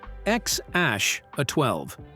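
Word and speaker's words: X Æ A-12: Born in 2020 to Musk and singer Grimes, X AE12, pronounced X ash, a 12, a name found only in AI and CIA spy movies.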